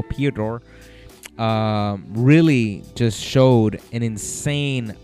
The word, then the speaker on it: Piotr: Piotr, let me pronounce that right, because I'm saying Piotr and the T is after the O. Piotr.